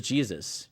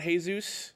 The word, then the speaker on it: Jesus: like but it's in it's pronounced Jesus not hey-zeus yeah well there's a